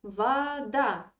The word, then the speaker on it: вода: Твоя вода, твоя вода, your water. The same story. This o is in unstressed position, yeah.